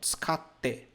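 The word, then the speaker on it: 使って: Nós temos aqui, ó, tsukatte. Nós temos esses dois t's. Quando você estudar a escrita japonesa, você vai aprender um fenômeno onde ele dá uma pausa na pronúncia.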